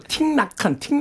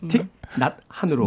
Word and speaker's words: 틱낫한: 그러니까 저도 틱나칸 자꾸 했는데 나틱한 쉿 발음이에요.